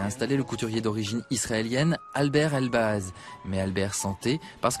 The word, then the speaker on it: Albert: I said it's the same, but just don't pronounce the T.